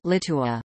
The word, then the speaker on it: Litua: The chronicle recorded a Latinized form of the name Lietuva, Litua, pronounced Litua.